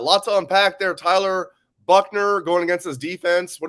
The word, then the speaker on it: Buchner: tyler buchner though um buckner tyler buckner it's pronounced like bill buckner it's it's spelled a little different tyler buckner um good runner we'll